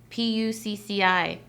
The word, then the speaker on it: Pucci: um a lot of their stuff but yeah p-u-c-c-i i thought it was like pronounced something lewd back when i was in